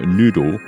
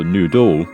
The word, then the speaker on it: noodle: So you don't get weird sounding words with the word noodle. The stress is on the first half, on the first syllable. Or if you go noodle, then the word just sounds wrong, right?